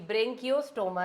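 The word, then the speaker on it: Branchiostoma: Example है यहां पे एक ही वो है ब्रेंकियो स्टोमा। ब्रेंकियो स्टोमा। बोलो इसको ब्रेंकियो स्टोमा। आपको प्रोनाउंस भी करना आना चाहिए कि ब्रेंकियोस्टोमा है यह।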